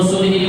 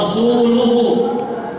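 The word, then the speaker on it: رسولُهُ: Wa adzanu minallahi wa rasulihi ilan nasi yaumal hajjil akbar anna Allaha bari'um minal musyrikin wa rasuluhu. Ini yang sahih bacaannya. Tapi ada orang bacanya salah pada zaman Umar.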